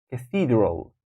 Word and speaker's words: Cathedral: and falls and pools Cathedral Cathedral see Cathedral that will be the second syllable is taking the stress Cathedral we're not saying Cathedral or Cathedral we think Cathedral number five Piccadilly Circus